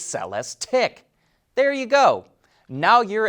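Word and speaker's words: Celestiq: the cell s tick and make sure you pronounce it right it's not celeste eek its sell s tick there you go now you're as fully confused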